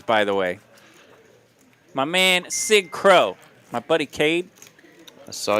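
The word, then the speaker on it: Cig Cro: Sig Crow, C-I-G-C-R-O. Like cigarette, Sig.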